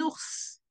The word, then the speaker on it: ours: Un ours. What is quite specific with ours is like for once we are pronouncing the S at the end of the word, something that we scarcely